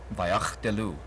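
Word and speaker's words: ויחדלו: The first Shavah is silent, the second Shavah is vocal. You put the consonant before the vowel. And then this is a shuruk. There you go. Vayach delu.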